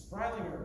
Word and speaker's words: Freilinger: so like for instance my name is difficult to pronounce it's freilinger but it's spelled f-r-e-i-l-i-n-g so i would write out f-r-y like fry then dash ling l-i-n-g dash e-r okay so that would make